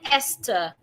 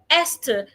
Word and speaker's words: Esther: Esther, the H is silent, e.t.c.